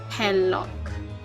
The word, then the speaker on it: Herlock: Oh, hair. So hair lock. Oh, okay. So that's how it's supposed to pronounce it.